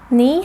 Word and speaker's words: 你: Just think of you have a good friend named Nina, and the pronunciation of 你 is just like the first syllable of Nina.